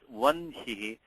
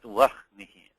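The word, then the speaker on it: वह्नि: times people will say, you pronounce it as vanhi, not vahnihi.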